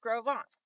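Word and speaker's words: Gros Ventre: This is pronounced groant and grovant means big belly.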